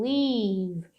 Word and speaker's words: leave: Então, essa ideia de to leave, olha a pronúncia, um i bem longo, leave.